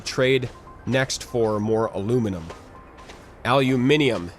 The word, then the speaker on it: aluminium: next for more aluminium aluminium is actually the official way to pronounce it now which bothers me because I'm American I'm from the US and so I want to say aluminum but the official I you pack name is aluminium so I I need